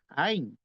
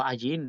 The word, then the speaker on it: ayin: letra también que es ain. Hay una letra que se pronuncia ain o ayin, le dicen algunos, pero es más o